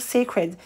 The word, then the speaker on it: Cécred: se dit seccred et ça se prononce toujours secret en fait elle facilite